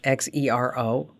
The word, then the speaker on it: Xero: It's spelled with an X, Xero, and that's free for small businesses.